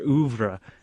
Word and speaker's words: oeuvre: There's like this big theory that, you want to aim towards a perfect piece or perfecting your oeuvre. Is that the correct pronunciation? Yes. Okay, your oeuvre.